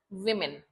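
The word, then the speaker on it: women: वुमेन। भले हम ओ लिखते हैं बट प्रोनंसिएशन क्या होगा? वुमेन। Like this. ऐसे प्रोनाउंस करना है।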